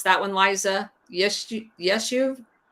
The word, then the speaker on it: Yishuv: And he actually is the one that created the Zionist paramilitary organization that operated, and how do you pronounce that one, Liza? Yeshuv? YISHUV.